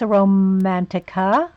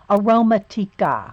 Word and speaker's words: Aromatica: Oh, good, Miss Romantica. It's aroma. It's aroma. It's not romantic. It's aroma. Aromatica.